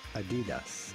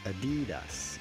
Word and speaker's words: Adidas: say that feed us without stressing on any syllable in particular Adidas Adidas Adidas pretty straightforward but in English or American it is generally pronounced Adidas insisting or stressing on